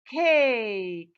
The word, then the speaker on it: cake: Cake. You see, I have long vowel A and silent E at the end.